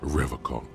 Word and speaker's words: Revachol: He pronounces Revachol with a hard K, unlike other people.